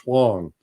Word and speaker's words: Huang: It's WennieHuang, which is pronounced Huang.